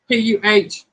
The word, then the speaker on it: pecan: Yeah, it is spelled Pecan, but it is pronounced Puhcon.